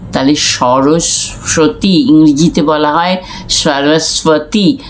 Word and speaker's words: সরস্বতী: তাহলে সরস্বতী ইংরেজিতে বলা হয় সরস্বতী। স্বাতি যেটা যখন বলা হচ্ছে তখন এই বটা বাংলায় সাইলেন্ট ব, এটা উচ্চারিত হয় না।